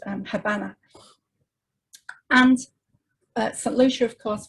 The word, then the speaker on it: Habana: Cuba, and I know Queenslanders pronounce it Habana, but nonetheless, that is, it was named after the capital of Cuba, obviously Havana. The B is the original Spanish spelling. Originally, it was pronounced Habana.